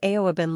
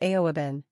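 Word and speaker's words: aoibhinn: the one above is aoabin. Despite how it looks, this word is pronounced almost exactly like the English word even.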